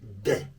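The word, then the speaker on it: des: The elementary level, we have words like un, une, and de. De is spelled D-E-S.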